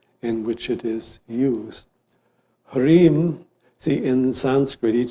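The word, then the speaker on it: ह्रीं: Second mantra here is Hrim, which we can spell phonetically H-R-E-E-M.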